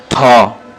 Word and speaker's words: থ: ন তারপরে ত থ আমরা অনেক সময় থহ বলি আসলে এটা ভুল উচ্চারণ এবং ভুল নাম এটা